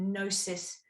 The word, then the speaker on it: gnosis: just about knowing the with the g the silent g the gnosis of knowing who you